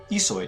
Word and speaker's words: Ihsoy: the Demonic Yoshi was really es soy that's esoy pronounced there you go that's the pronunciation when oam